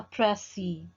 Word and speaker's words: précis: If we will talk about précis, this word comes from French word précis. So say it like this. Précis is basically the combination of two different syllables. In one pronunciation, you can stress the first syllable like prècis, prècis, or you can accent the other syllable.